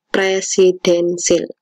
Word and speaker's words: presidensial: yang ketiga sistem presidensil tulisannya presidensial bacanya sistem presidentil bagi kita pelajari satu